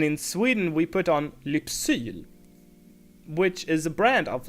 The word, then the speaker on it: Lypsyl: Actually, I would say a lot of people say Läppsyl. Läpp is the Swedish word for lip, but the brand name is spelled like this, Lypsyl, and in real Swedish it's called.